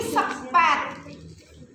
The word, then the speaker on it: spuit: Katu pas ngerti ini sepet sepet 1 cc tulisannya sepu bacanya Sep jarum suntik nek jarum